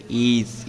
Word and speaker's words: is: দেখো উচ্চারণটা দেখো কিন্তু। দি অপল ইজ রেড ইস না কিন্তু ইজ ইজ দি অপল ইজ রেড